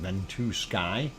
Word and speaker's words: Ventusky: actual weather map on ventuski or ventusky uh however you wish to say it i do believe they pronounce it bento sky and that is what